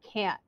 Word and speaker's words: can't: can and can't when Americans often don't pronounce the T sound and that's a stop T so when we make